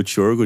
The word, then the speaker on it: Csorgo: Porque o nome do Tiorgo, gente, pra quem não sabe, escreve C-S-O-R-G-O, mas se pronuncia Tiorgo.